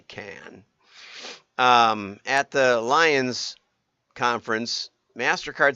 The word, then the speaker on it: Cannes: I thought it was Con, but it's apparently Cannes.